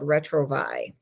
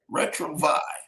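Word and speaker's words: Retrouvaille: It's something called Retrovi. Retrovi. I've never heard of that. Retrovi is spelled uh re t o u v a i l e.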